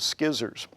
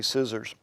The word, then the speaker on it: scissors: Normally, magicians would cut the rope with skizzers. I pronounce it skizzers because that's the way the word is spelled, and I don't know how to say scissors.